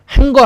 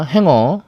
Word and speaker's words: 행어: 예, 코트 행어예요. 그 행거 아니야, 행어. 어, 그 코트를 걸어 놓는 행어.